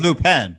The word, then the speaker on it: Lupin: that show we want lupin i mean lupin i think it's pronounced new pen but it is it's